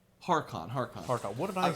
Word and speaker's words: Harkon: Harkon. Harkon. What did I say? You said Lorcan, Yeah, but I got Harkon.